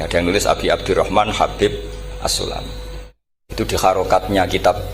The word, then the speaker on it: Habib: yang nulis Abi Abdurrahman Habib assulami itu di harakatnya kitab itu ada yang nulis hubb tapi yang benar Oh enggih yang benar itu bacanya habib habib itu asulami itu ikut